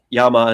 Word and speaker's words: llama: Yama in in Spanish is l L A M A.